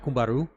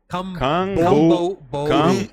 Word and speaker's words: Camboriú: Blumenau, Cumbaru. Mm-hmm. I've never been, Camboriú. but that's so Camboriú. Cumbaru. Camboriú. Four syllables.